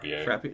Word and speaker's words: Frappier: do you say her last name for Pierre Frappier frap Frappier Jill frappier's portrayal of her to me was